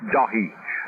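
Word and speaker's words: Dáithí: Is that's what it's the English of my name is, but once again it's pronounced Dahi.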